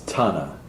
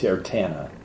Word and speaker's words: Tana: Her name is Tana. Tana.